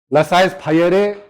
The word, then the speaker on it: laissez-faire: अब देखो, this is pronounced as laissez. You can pronounce it as you like. Laissez, laissez, laissez-faire. It is up to you.